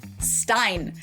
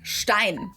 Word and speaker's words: Stein: Most Americans pronounce this as Stein, and it refers to a beer mug. In German, this word is pronounced Stein. ST at the beginning of a word always turns the S into a sh sound in German.